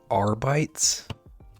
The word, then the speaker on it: Arbites: I just don't know how to pronounce it. They're older than Robocop. That's their like standard look. Arbites.